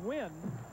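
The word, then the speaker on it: Nguyen: It's pronounced Wynn.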